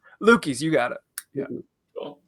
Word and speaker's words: Luchies: Because we were just talking about how your last name, I always thought it was Luchies, but it's Luchies. Luchies, you got it.